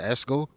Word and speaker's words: ESSGOO: So this is ESSGOO. I pronounce it ESGO.